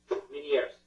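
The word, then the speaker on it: Ménière's: So Meniere disorder, did I pronounce that correctly? Meniere's, yes.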